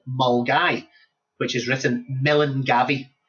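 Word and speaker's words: Milngavie: It's a place called Mulgai, which is written Melan Gabby. So, it's pronounced Mulgai.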